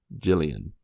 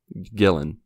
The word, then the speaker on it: Gillan: it's pretty awesome so shout out to Karen Gillian Gillan chillin Gillan Gillan thank you obviously Karen was